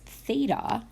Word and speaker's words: theta: Now, be careful because theta, which is our angle, so you'll see this notation if you haven't seen it before, it's pronounced theta, can move around the triangle.